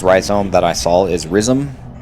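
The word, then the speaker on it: rhizome: Last time I said I was going to look up how to properly pronounce risome, which is what I've been saying. And uh turns out that that is uh apparently the proper pronunciation ryome.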